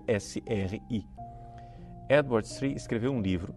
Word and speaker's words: Sri: Quem quiser aprofundar isso, existe um famoso estudo de um teólogo leigo chamado Edward Sri. Sri se escreve S-R-I.